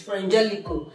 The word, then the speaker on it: Frangelico: I hope I'm pronouncing it right. Frangelico. Yes, I pronounced it right. It's Frangelico.